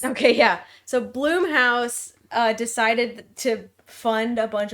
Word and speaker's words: Blumhouse: It's like Steve Blum doesn't have an E, but that's how you say it, and then it's Blumhouse.